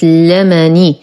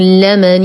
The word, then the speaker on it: لمن: الآية 102 لدينا كلمة لمني بفتح اللام وليس بكسرها، ولقد علموا لمن اشتراه وليس لمن اشتراه وهذا خطأ.